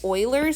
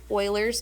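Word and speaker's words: Euler: stuff online and they call it Oiler number which is spelled like this that's the same thing Oilers number it has a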